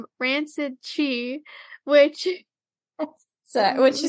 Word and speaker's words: Chi: looking that up um she calls it Chi which I think is the correct pronunciation but uh in the show Black Clover they also deal with that kind of you know energy source Life Energy Source but they call it key I'm pretty sure it's